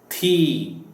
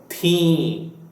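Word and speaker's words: थीं: And as I I mentioned before, people in colloquial Hindi use the thee instead of theen, meaning they do not pronounce this n.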